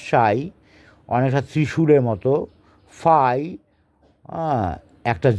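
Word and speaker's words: psi: সাই পি এস আই পি এর উচ্চারণ হবে না সাই অনেকটা ত্রিশুরের মত ফাই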